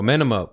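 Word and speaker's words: Amenemope: And then they talk about how are we going to pronounce this? Amenhotep? Oh, Amenemop.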